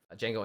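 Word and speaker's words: Django: Jango Unchained was really good. Mhm. Oh, yeah. Jeno the D is silent.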